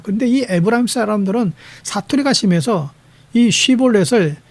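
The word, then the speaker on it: שבולת: 근데이 에브라힘 사람들은 사투리가 심해서이 쉬볼렛을 시보렛이라고 반음하는 거. 그러니까이 발음에서 안 되면 잡아서 죽였어요.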